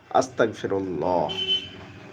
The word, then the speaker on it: আস্তাগফিরুল্লাহ: আলিফ scene তা ওই ফা র আল্লাহ আস্তাগফিরুল্লাহ। বুঝতে পেরেছেন? এটা হচ্ছে সঠিক উচ্চারণ।